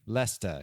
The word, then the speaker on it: Leicester: Isn't it pronounced Leicester? It might be. Leicester. Yeah, Leicester City Foxes says my pronunciation guide here.